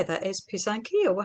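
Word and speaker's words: писанки: Is pisanki, or how do you say it? Yes, Ukrainian so egg dye. The Ukrainian term for it is pisanki, or pisanka if it's singular.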